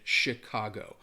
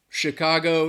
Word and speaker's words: Chicago: So, I I I think it more that ch would have an sh sound. Shi- Chicago.